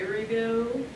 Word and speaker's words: Erivo: But who I think will win will be Cynthia Erivo.